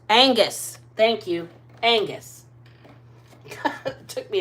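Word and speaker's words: Oenghus: Wands we've got youthful Champion son of light onus onus onus how do you pronounce that o e n g h u s Angus Angus thank you Angus took me a minute I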